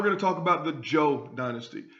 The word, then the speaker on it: Zhou: Now we're going to talk about the Zhou dynasty. A ZH is pronounced Zhou. The Zhou dynasty ruled from 1045 to 256 BC and was the longest lasting dynasty in Chinese history.